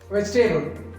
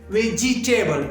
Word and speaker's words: vegetable: is vegetable here vegetable some people are pronouncing pronouncing like this veg table vegie table but it is wrong veg table is wrong vegetable vegetable veg table veg table this is the right pronunciation this is the right